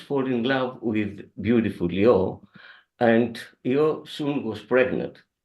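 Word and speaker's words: Ἰώ: Her name was Io, as we pronounce that in Greek, Io.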